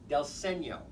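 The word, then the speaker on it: dal segno: alkoda the d s stands for either dell or doll senior which is spelled we'll say doll d-a-l s-e-g-n-o with that little tilde over the over the end there del segno that means literally translates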